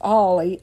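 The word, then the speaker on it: Ally: Mountain Dew started because Knoxville brothers Barney and Ollie, which is spelled A-L-L-Y, like Allie, but it's pronounced Ollie, O-L-L-I-E.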